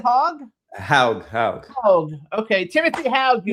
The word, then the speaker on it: Haug: Did I pronounce it right? Hogue? Haug.